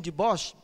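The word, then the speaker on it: Dubois: esse holandeses aqui Eugênio deboche né se a pronúncia a holandesa Eugenio deboche em 1891 ele achou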